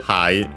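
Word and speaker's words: ハイ: So yeah, we simply have a high from English in this case in addition uh should be accented on the first syllable just like in English and it is uh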